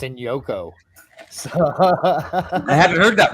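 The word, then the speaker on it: Njoku: are plentiful did you call him David and joku that's so not how his name's pronounced dude I to embarrass you like that but it's pronounced in Yoko so I hadn't heard that rumor yeah no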